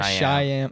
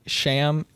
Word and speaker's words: Shyam: And then I tell them like, I learned over time, the Y is silent. That's all I say. And people just call me Sham. And I like that. But the real authentic way is Shyam.